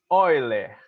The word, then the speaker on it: Euler: Mas pronuncia-se Euler. Euler. Não fala óleo não, viu? É Euler, ok?